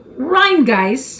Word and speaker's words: Rhinegeist: You want to pronounce it? Rhinegeist.